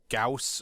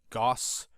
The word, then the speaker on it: Gauss: young Carl Frederick Goths some pronouncing gauss or gauss is a german name busy in primary school